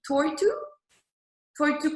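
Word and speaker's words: Toitū: Really big goal also is they want the members to become, and someone from New Zealand can correct me on my pronunciation, the toitu carbon reduce. Toitu, yes, that's correct.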